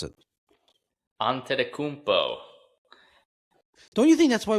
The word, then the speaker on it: Antetokounmpo: Giannis Antetokounmpo. Oh, Did I pronounce that correctly? Did I pronounce it correctly? Off to a good start. You pronounce it. Antetokounmpo.